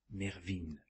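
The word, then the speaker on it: Mervyn: rappeler à votre oreille le mot qui se prononce mervine comme il est changé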